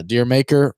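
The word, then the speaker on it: D'yer Mak'er: into a groove uh dear maker rhymes with jamaica jamaica i didn't realize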